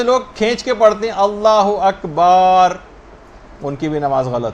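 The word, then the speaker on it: الله أكبر: جو آپ کہیں گی۔ بہت سارے غلط تلفظ لوگوں کے اندر رائج ہیں، مثلا اللہ و اکبر، اللہ اکبر ہے، اللہ و اکبر نہیں، اگر کوئی ایسے کہہ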